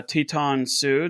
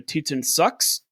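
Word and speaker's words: Teton Sioux: I listened to a podcast uh by a couple of Australians that had no idea how to pronounce uh Teton Sue. They called him the Titan sucks. Nice. And I'm like cool. That's not it. That's not it at all.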